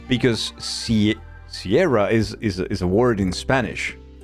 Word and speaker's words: Sierra: foreign to pronounce, because Sierra is a word in Spanish as well. I say as well. And in Spanish, the pronunciation is completely different, right? It's Sierra. So saying something like Sierra